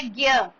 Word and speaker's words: ज्ञ: लिखा जा रहा है, सिर्फ एक ज्ञ ऐसा होता है जिसकी प्रोनाउंसिएशन अलग हो जाती है।